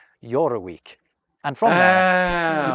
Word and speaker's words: Jorvik: So they likely pronounced it along the lines of Yoraweek.